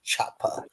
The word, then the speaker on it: Chapa: Gringo underline or underscore na NA underscore Shapa, which is spelled with a CH. So it'd be like Chapa.